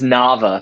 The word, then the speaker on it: Nava: It's Nava, thank you very much. Like lava, but with an N.